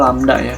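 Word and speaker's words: lambda: banyaknya gelombang lamda itu adalah panjang gelombang ini dibacanya lamdaya seperti ini landak lamda nulisnya Ella mbda lamda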